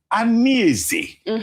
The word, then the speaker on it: Anieze: He said I don't pronounce the name Anieze very well. That Anieze means heaven, but that what I say is something else. What's the correct pronunciation?